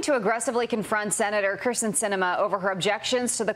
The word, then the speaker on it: Sinema: Quote, the Arizona senator's name is pronounced Sinema, and it is apt because she sweeps.